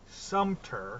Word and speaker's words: Sumter: Sumter. Sorry, I keep putting a P in there. Sumter.